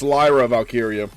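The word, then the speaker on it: Lyra Valkyria: wrong from now on but it's Lyra valkiria so um Lyra valkiria and EO Sky Becky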